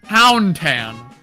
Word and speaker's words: TaugnTan: It pronounce it as if the G is silent. TaugnTan. Pronounce the AU as a W.